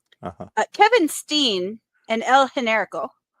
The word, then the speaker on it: Generico: Kevin Steen and El Generico. Like I use the proper Spanish pronunciation of the Generico.